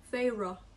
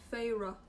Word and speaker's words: Feyre: Ich weiß, wie sie ausgesprochen wird. Feyre. Voll geil, dass die das aufschreiben, wie man sie ausspricht. Feyre.